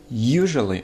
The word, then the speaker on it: usually: Первый слог под ударением. Teenager. Дальше. Usually. Usually – первый слог под ударением.